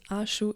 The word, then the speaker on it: Axo: C'était un clin d'œil à mon nom, car Axo se prononce avec un « ch », mais mes initiales sont « axo », et ça se prononce de la même façon.